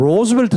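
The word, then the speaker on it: Roosevelt: 잘 모르고 하는 얘기에요 미국사 로 물으셨다 그 로스 벨트 라고 발음합니다 rov 않게 어워즈 갈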